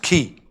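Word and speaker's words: כִּי: So the call's the C-looking thing, and the Yoda's the other thing, and it's pronounced key.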